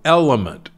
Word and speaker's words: LMNT: I happen to like a drink called Element. It's spelled L-M-N-T.